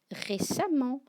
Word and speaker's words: récemment: Récemment, prudemment, violemment s'écriront E, 2-M-E-N-T, mais tu l'as bien entendu, on prononce amant.